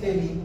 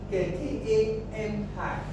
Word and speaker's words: Kami: E.g., there's an application, I don't know how to pronounce that, I call it Kemi. It's not Kemi, I think it's Kemi or whatever. That's an app. The spelling is K-A-M-I. Kemi. Yeah. What would I pronounce that? Kami. I'm pretty sure those apps also.